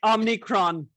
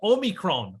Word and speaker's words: omicron: good so what do we know about um omnicron um omicron omicron just let's get this right guys see